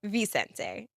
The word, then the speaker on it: Vicente: Vicente. No, remember you pronounced it with a B.